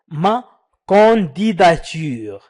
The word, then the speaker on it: ma candidature: حاولوا أن تعيدوا ma candidature. النطق الصحيح هو ma candidature.